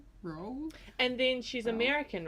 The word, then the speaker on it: Rowell: but not Rowell. obviously not towel. Like Rowell. I think I just broke the word up into 2 lots, so row and well. Rainbow Yeah. Rowell.